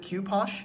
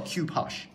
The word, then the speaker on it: Cu-Poche: a kopo kopo sure I don't know how to pronounce it cue posh I think that's the correct pronunciation a lot of people